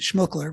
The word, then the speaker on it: Schmookler: to pronounce it but I pronounce it schmuckler because that's how my parents pronounced it so um my my